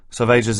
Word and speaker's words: Salvages: Salvages is pronounced to rhyme with assuages.